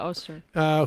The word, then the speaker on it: Öztürk: Is that how we pronounce her name? Yeah, Öztürk.